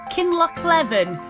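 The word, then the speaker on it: Kinlochleven: google on tinternet and i think you pronounce it kinloch levin that's the place i'm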